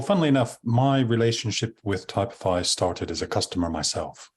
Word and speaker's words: Typify: It's pronounced Typify. Typify, yes.